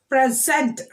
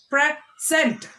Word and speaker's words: present: When we are stressing on the second syllable, it is a verb.